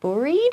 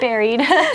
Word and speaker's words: buried: We say buried, which sounds, maybe a little strange because you might think like buried, but no, it's buried.